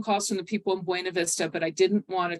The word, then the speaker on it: Buena Vista: I've gotten a couple phone calls from the people in Buena Vista, but I didn't want to talk to, or Buena Vista, right? I have to say it right.